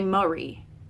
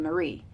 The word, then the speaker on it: Marie: Clarisse we don't say Marie like oh here's my friend Marie we don't say that we say here's my friend Marie and we put that emphasis on that second syllable trochee with the stressed